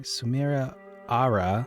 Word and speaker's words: Samira Ara: If it gives me Samira Ara, sorry, syllable, the first one's accentuated.